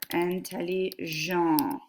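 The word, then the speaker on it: intelligentes: are smart they are and telle Zhang which is pronounced the same as this but we have a silent S on the end I would like to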